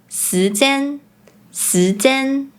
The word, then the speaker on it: 時間: For instance, “時間 time” becomes “si2 zan1” Pronouncing “直接 directly; straightforward” as “zi4 zie4” The last point about pronunciation is that some words are pronounced differently in Malaysian Mandarin.